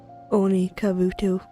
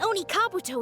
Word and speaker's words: Oni Kabuto: it will go for the Oni kabutu I mispronounced that but it will definitely go for yo how right you are Oni king with a training partner like this an Oni Kabuto is sure to reach